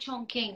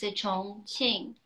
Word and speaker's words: Chongqing: Actually, it's not Chongqing. It's Chongqing. That's how you pronounce it in Chinese.